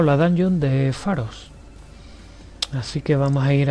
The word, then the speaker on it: Pharos: que sería la dango de faros o paros se escribe p h a r o s y bueno esta dungeon